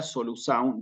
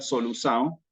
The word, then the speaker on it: solução: En portugués va a ser esta palabra solução. Yo acá no tengo para escribir la C como es en portugués, que se escribe en forma distinta, pero en portugués va a ser solução, ¿sí?